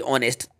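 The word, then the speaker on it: honest: इसका right answer parking ही होगा ही इस ऑनेस्ट ऑनेस्ट है यहां पर आपको वावेल साउंड मिल रहा है क्योंकि आगे इसमें साइलेंट है साइलेंट है तो आपको यहां पे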